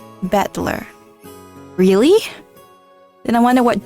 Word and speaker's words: Battler: Japanese pronunciation so far the problem is my name is made up of the characters for fight and person and it's pronounced battler really then I wonder